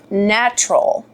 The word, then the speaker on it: Gnatrol: I purchased this little bottle, and it is called Gnattrol. So it's spelled like gnat, Gnatrol, Gnattrol, WDG.